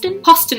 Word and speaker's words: Poston: Poston rhymes with Austin.